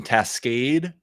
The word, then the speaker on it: Tascade: And then finally, last but definitely not least, John from Tascade, pronounced correctly, which I messed up beforehand, but I got right this time.